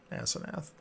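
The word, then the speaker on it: Asnath: and a yeah oh I heard it wrong earlier that's like I said spelling you know what it says ass and I totally get that now my fanatic then I pronounce it like a human being yeah a s n a t h asenath as okay yeah cool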